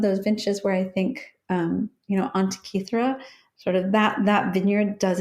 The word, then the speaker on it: Antica: Antica. Nobody knows how to pronounce it. I didn't know how to pronounce it. It's I heard you say it Antica. differently. Antica, that was it.